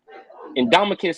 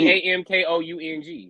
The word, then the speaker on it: Ndamukong: Damn, no, I jagged. It's a U. Ndamukong.